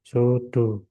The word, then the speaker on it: pseudo: bacanya sih sudut ini. SU sudo sudo ya.